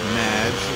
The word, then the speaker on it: Madge: It's Madge, which rhymes with badge, as in duh, and no, as in more than you.